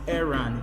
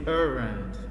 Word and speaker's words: errand: Okay, and you have the letter ER here, and yet you notice that it's pronounced errand. You don't say errand.